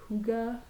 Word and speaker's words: Hygge: Hygge. It says it's pronounced Hygge, which makes absolutely no sense, but sure, let's call it Hygge.